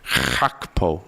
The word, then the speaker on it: Gakpo: Want to try that again with Cody Gakpo today?